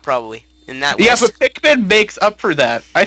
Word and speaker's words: Pikmin: Pikman. Pikmin. Pikmin. Let's pronounce together. Pikmin. Pikmin. Good job.